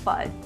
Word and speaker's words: FUD: in the crypto community let's start with fudd or is it fud food i say it rhymes with mud and no one has corrected me yet so i'm gonna go with bud and it's funny it's